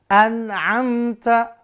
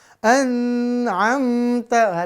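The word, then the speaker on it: أنعمت: yang Ain kita baca anamta Nah hati-hati pemirsan ya ini ada bahkan di anara sedikit di anara kita yang bacanya jadi dengung an'amta Aduh udah salah Ya PD lagi jangan harus izhar anamta ya Yang ha min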